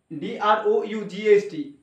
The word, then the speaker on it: drought: যদি থাকে, আর এখানে DROUGHT যদি থাকে, ওইটার উচ্চারণ হবে না অ্যাকচুয়ালি, বিশেষ করে ওই GHT না, টি এর আগে যদি GH থাকে, GH এর উচ্চারণ হয় না, সেটা সাইলেন্ট মোডে থাকে,